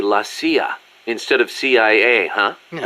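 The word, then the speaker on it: la CIA: Around here they say Lassia instead of CIA. Huh. Um, nothing strange about it. That's how it's pronounced when you read it in Spanish.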